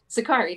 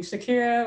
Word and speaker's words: Sakari: the spanish but um zakari tell us a little bit about your okay you got my name right wonderful i've gotten a lot of interesting interpretations including shakira which i am not yeah